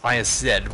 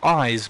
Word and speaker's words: Isz: is chalice isz it's it's pronounced isz but the idea came up in bloodborne let's talk lore that you could pronounce it eyes but because of the J original Japanese text but but that doesn't actually hold true but I I just contined calling it eyes just cuz it sounded